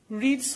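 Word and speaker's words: read: নাইম সেইড, তারপর সেই লিঙ্কারটি বসলো দ্যাট, তারপর হি রেড বুকস। এখানে কিন্তু রিডস হয়নি, কারণ হচ্ছে যদি এটা প্রেজেন্ট ইনডিফিনিট হতো তাহলে এটা রিডস হতো, এটা পাস্ট ফর্ম হিসেবে বসেছে যেটার উচ্চারণ হবে রেড।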